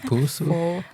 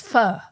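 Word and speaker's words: phở: Is it pusu? It's pho. Pho.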